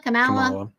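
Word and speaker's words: Kamala: for liking my post about Taylor Swift supporting camela C camela how do you say her name camela Camala Camala Harris someone actually wrote me a rude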